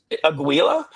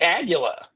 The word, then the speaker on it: Aguila: It's Aguila. Nice. It's Aguila.